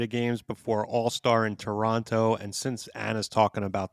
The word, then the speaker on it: Toronto: Toronto. No second T. Toronto.